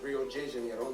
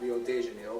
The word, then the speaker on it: Rio de Janeiro: That's right, it's pronounced Rio de Janeiro, not Rio de Janeiro. Get it right, we're not in Mexico. This is Portuguese, not Spanish.